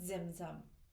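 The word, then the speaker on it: tzimtzum: The infinite contracts into itself with zimzum.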